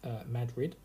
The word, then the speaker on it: Madrid: Township Kingsfield Madrid Township pronounced Madrid no not like to see in Spain I immediately called it